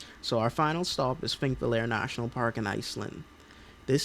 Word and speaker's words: Þingvellir: So, here in Iceland, specifically thinking, yes, that is how it's pronounced.